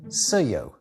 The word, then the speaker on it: sēo: If you were talking about a feminine object, you would say seyo.